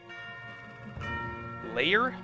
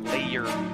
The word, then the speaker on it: lair: Lair. It's one syllable. Lair. Not layer.